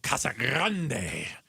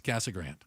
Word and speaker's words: Casa Grande: from here when they go Kasa Grande. I'm like, "You are not from these places." Casa Grande. It's Cassag Grand.